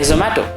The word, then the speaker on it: Zomato: Sometimes names won't mean anything, like Zomato, but it rhymes with tomato, so people remember it.